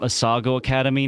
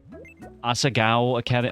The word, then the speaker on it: Asagao Academy: Should we add the main character from Asago Academy now? Asagao Academy. I keep pronouncing it incorrectly, but that also just goes to show how little respect I have for the game.